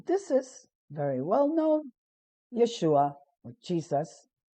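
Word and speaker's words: ישוע: on the right side this letter is pronounced sh so it's ye shu this is silent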